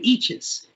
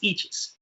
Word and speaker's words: Eaches: Oh, and by the way, Kevin Ishe has written in and said it's pronounced peaches. Oh, so it's Kevin Eaches. All right. Everybody's good with that? You run into him, it's Eaches.